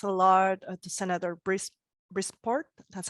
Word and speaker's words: Brisport: lot Aaron thanks a lot to Senator Bruce brisport that's how you pronounce it for your talk and so first